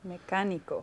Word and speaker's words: mecánico: Mecánico. Okay, mecánico. It's very important. The listening skills for this section is very, very important. Muy importante. So, mecánico. Mecánico. Okay, second step, divide it into syllables.